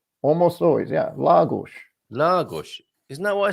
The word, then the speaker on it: Lagos: So it's going to be la, gush, la gush. And it took me a long time to figure out that second part, that if the vowel is in the emphasized syllable, it's pronounced as if it has one of those little slanted accents over it.